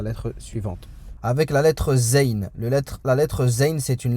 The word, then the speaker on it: ز: Donc le zayn se prononce z. Donc le z en arabe, ça sera comme un z, on va dire, en français.